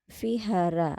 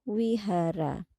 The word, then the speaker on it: vihara: Kemudian ini adalah vihara atau kita juga bisa membacanya wihara.